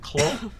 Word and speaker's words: Clough: I always mispronounce it. Is it Clough? It's Clough.